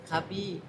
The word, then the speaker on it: Cubbies: U BB I E Sy โอ คบี้ ครับ โห แล้ว ของ ผม อ่ะ อ่ะ คบี คบี้ ไป คบี้ ขอ โทษ